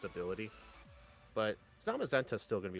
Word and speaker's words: Zamazenta: I think that's pronounced. That is correct, yeah. This was a member-suggested run from Mariah, the Zamazenta lover, one of my members.